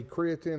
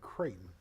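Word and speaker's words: Creighton: down they pay play creatin and tus loo on December the 14th they don't play creatin they play kraton kraton it's not creatin it's not creatin Katon it's c r e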